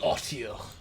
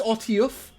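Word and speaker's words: Otyugh: Yes, you've heard of the Otyr. Jamal says Otyuf. I think Otyr is better, but whichever way you want to pronounce it.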